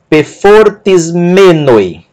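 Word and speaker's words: πεφορτισμένοι: E aqui é a sílaba tônica dessa palavra. Pefortis-me. Pefortis-me. Última sílaba, ni, ômicron, ômicron, iota, noi. Pefortis-menoi. Pefortis-menoi.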